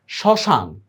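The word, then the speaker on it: শ্মশান: আমরা একটা চন্দ্রবিন্দু দিছি দেখ শশান দেখ মফলার কোন উচ্চারণ নাই আমরা চন্দ্রবিন্দু দিছি স্মৃতি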